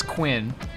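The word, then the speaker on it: Cuin: and a tree but his name is quinn and it's spelled c-u-i-n so i had to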